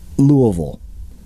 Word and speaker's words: Louisville: Lick Creek near Louisville side note for non Kentucky based listeners that is the proper pronunciation try it now Louisville anyway this trestle is